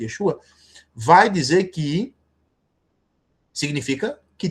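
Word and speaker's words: ישוע: Porque Yeshua, ou Yeshua, que é a a tradução, a pronúncia mais correta, Yesua, vai dizer que significa que Deus é a salvação, que é o nome de Josué, do Antigo Testamento.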